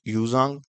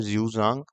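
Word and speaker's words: Xuanzang: और फिर आते हैं हमारे पास यूजांग जिसके असली प्रोनंसिएशन ये है जजांग अगर हम देखें तो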